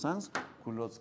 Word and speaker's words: sans-culottes: Se pronuncia los sans-culottes.